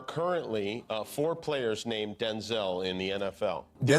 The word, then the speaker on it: Denzel: wait a minute because my name's not pronounced Denzel. My name's pronounced Denzel. Oh, I'm Denel Jr. My father's Denel Senior. I'm Denzel Jr. My mother would say Denel and we both show up. So she said from now on you're Denzel. Well that's how it got pronounced Denzel.